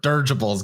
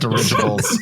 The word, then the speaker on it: dirigible: Now get ready for "'Durgibles' Guys." ALICE: Did you say 'durgibles'? JUSTIN: 'Durgible.' LIAM: I did. I meant dirigibles. I didn't know how to say the word.